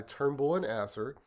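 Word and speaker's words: Turnbull & Asser: let's pop over to a blog post by Turnbull and Asser yes that's how you pronounce it um which by the way bonus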